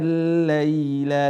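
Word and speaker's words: الليل: bacaan kita sudah benar, huruf ya sukun ketika sukun maka mengarahnya kepada huruf laili. Wa ja'alna al-laila libas, bukan dibaca lai. Wa ja'alna al-laila libasa. Banyak sekali teman-teman membacanya lai. Wa ja'alna al-laila libasa, bukan lai tapi lai.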